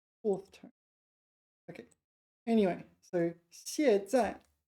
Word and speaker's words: 卸载: 卸载 meaning unload, and here it's used for software.